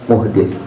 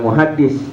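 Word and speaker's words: محدث: Ini namanya muhdis. Bacanya jangan muhaddis. Kalau muhaddis nanti ahli hadis.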